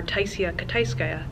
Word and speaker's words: Taisia Kitaiskaia: So the proper pronunciation of the author and illustrator's names are Taisia Kitaiskaia and Katie Horan.